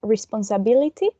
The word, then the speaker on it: responsibility: Then in number 87, we have responsibility. It has 6 syllables, and the most prominent one is the fourth one, this one.